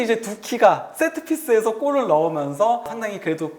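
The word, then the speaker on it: Doekhi: 두키 선수가 5-2 스펠인데 로날드 쿠만처럼 우 발음이 되는 거죠? 예. 두키, 도에키가 아니고 예.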